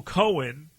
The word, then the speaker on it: Cohen: Michael Cohen, or Cohn, or depending on what outlet you're talking about right now, who determining how they say his name, they said something about